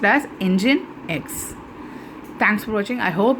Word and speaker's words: Nginx: This will be pronounced as Nginx.